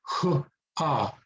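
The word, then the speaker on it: 하: So h ah, or ha. Kind of like, you know, if it were HA in English, that's probably how you would pronounce it, right?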